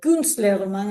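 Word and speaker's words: Künstlerroman: El kunstle román, eh, kunstler román en la pronunciación alemana que Pamela me estaba enseñando ayer, ¿no?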